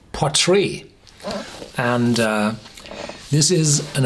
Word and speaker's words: Port Ruighe: have the telescope part whatever how do you pronounce this PUK no it's called potre and uh this is an old GIC GIC